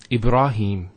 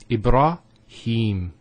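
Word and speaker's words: إبراهيم: Ibrahim. Here the ha has a kasra, followed by the ya. So here there's an elongation of the E sound. It's he. Him. Ibrahim. Similarly, here we have Kareem.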